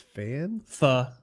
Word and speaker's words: pho: I go to a Vietnam restaurant and get, how do you pronounce that? It's pho. Right? I think it is pho.